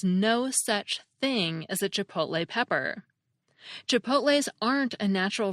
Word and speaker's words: chipotle: Let me say unequivocally that the word is pronounced chipotle. That's lay as in rhymes with play, clay, tray, and so forth.